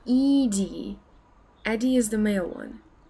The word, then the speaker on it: Edie: except our cat molly you have a cat eddie would be pronounced edie eddie is the male one oh ed okay